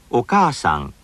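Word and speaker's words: お母さん: お母さんお母さん What's important here is that the extra length of the vowel is equivalent to one syllable and receives one beat, just like every other syllable.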